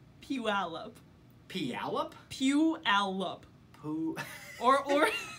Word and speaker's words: Puyallup: puh pulley up o PL up PL up Puyallup ooh or T Allah P Allah Puyallup yeah